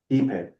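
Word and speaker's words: ipe: How do you pronounce the wood again? Epay.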